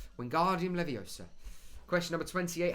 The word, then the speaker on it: Wingardium Leviosa: Not Wingardium Leviosa. Wingardium Leviosa.